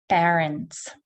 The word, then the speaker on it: parents: Parents, So as you can see, again, it's not an R sound, it's not an OR sound or sound. Solarium, it is stressed.